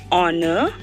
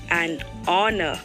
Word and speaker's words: honor: Hence, we say an honest, an honor, because H is silent in these words.